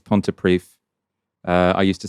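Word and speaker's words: Pontypridd: We both messed up there, Ash, because we both said pontiprid. It's pontiprief.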